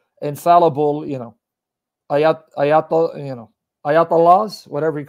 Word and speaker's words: ayatollah: about the ayatollah khomeini the way you're pronouncing english because you know we english people we butcher every language it's ayat allah meaning sign miracle of